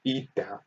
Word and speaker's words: eta: So the coefficient of viscosity, pronounced eta, for a fluid is defined as the ratio